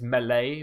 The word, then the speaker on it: melee: It's correctly, it's melee, but, you know, people influence me for the worse and make me pronounce words bad and grammar wrong.